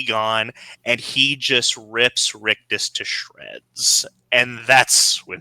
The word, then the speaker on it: Rictus: Rigus? Rictus.